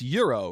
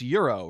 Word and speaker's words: gyro: talking about the food the Greek food it's Euro right because if you're talking about something being a gyroscopic like revolving around something then it'd be pronounced gyro but the Greek food is Euro right like gyro is like when you're referring